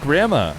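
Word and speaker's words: Gramma: Is there a different way to say the Italian player's name who is spelled G-R-A-M-M-A? Everyone's always like, he says it grandma.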